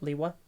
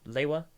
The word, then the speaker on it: Lewa: I just prefer to pronounce it Liwa.